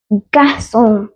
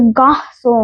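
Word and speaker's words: garçon: सी ओ एन गस अब ये मैंने थोड़ा अलग अलग लिखा है कक इसको ना प्रोनाउंस ना अलग से किया जाता है कक सी जो है उसके ना इसमें एक और सिंबल है ध्यान से देखना ये वाला सिंबल तो इसकी साउंड बदल गई तो गा सो हो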